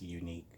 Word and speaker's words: Yuneec: run at home this unique ask you that's how I was that's always pronounced unique why you in EE